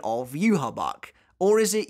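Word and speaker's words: Yhwach: or is it yuhabaha for as long as I can remember I've personally called the Quincy King yuhabak but people didn't really like that so for the most recent video I tried to Pivot to yuha Baha as is pronounced in the Japanese sub but it turns out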